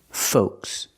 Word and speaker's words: folks: Folks. Use the long O like know and go. Folks. The L is silent. Do not pronounce the L.